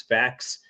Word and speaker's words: FACS: Kind of like some of your more recent post punk progenitors like um the band Corridor, Omni, uh FACS, I pronounce facts.